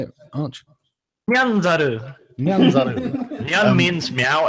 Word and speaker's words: Nyanzaru: Nyanzaru.